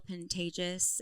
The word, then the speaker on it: Pantages: Which it was so wonderful getting to meet him, Will Pantages, and um Chris Is that how you pronounce it? Pantages. Pantages. Pantages. It's like contagious with That's what he That's what he said.